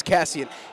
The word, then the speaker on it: Cassian: from California man but you know what it's Cassian and speaking about Jin